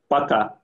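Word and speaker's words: пока: Paka.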